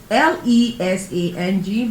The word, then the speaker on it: Lesang: Lesang is spelled Lesang, but the ng makes it the sound.